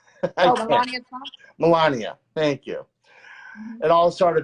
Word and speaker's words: Melania: And it all started because I can never pronounce the first lady's name right. Melania Trump? Melania, thank you.